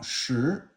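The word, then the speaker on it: 时: So now shi is time. So that's second tone.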